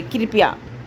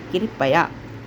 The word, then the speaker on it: कृपया: त्योहार औ की मात्रा नहीं होता है बल्कि होता है त्योहार कृपया अक्सर सुने होंगे कृपया लेकिन इसका सही अगर प्रोनाउंसिएशन किया जाए उच्चारण किया जाए तो होता है कृपया ठीक उसी प्रकार लास्ट